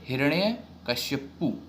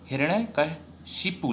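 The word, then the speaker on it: हिरण्यकशिपु: तो उसको कैसे हम उच्चारण करेंगे, हिरण्य कश्यपु की जगह हिरण्य कशिपु लिखेंगे, शिपु। ठीक है, शिपु बोला जाएगा।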